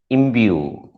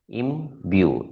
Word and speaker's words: imbue: Remember, this sound is not j, it is y. Im, b, y, u. So that's the y sound in between. Imbue, 2 syllables. Im is the first syllable, bue is the second syllable. How did that bue come into being? Bue consists of 3 different sounds, b, y, and u.